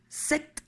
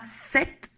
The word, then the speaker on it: cet: Attention, devant un H muet ou une voyelle A, E, I, O, U, le masculin deviendra cette pour des raisons phonétiques. Cette écrit C-E-T.